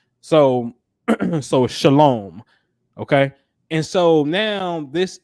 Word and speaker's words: shalom: deal with the base word um and here Shalom this is how you say shalom which means